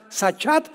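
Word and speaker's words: שחת: la palabra hebrea sach se escribe con s Samuel y ch como suena sachat con t de tío al final y esta palabra significa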